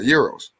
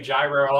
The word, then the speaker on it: gyro: okay so you um you're into uh Euros obviously oh thank God other people don't pronounce it right every other people say gyro I'm like no which is yeah I'm